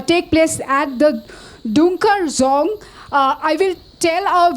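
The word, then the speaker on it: dzong: Fortress this also is called as the zong it's spelled as DZ o n zong in Banes uh is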